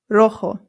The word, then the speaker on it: rojo: Our next one is rojo. Rojo. Rojo. Remember that the J makes a H sound. Rojo. Good. Now, if you're wondering why there's an A right here, that's because sometimes rojo is used to describe an object that is feminine.